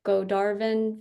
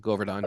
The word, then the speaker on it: Govardhan: The Godarvan village. Did I say it right? Govardhan, yeah.